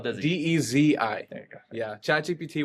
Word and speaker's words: Desi: Dezi. There you go. Yeah, ChatGPT will spell it Desi, and that is not the one.